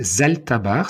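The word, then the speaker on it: Zalthabar: regarder ce que c'est ils peuvent elle s'appelle Zalta barre ça s'écrit Z a l T H a B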